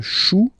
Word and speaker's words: chou: Then, un chou, okay, remember, when you combine this C and H, you get the sound sh.